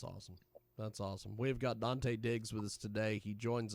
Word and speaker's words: Dante Diggz: Dante Diggz. That's DanteDiggz, which it sounds exactly like you'd spell it. Dante Diggz with us today.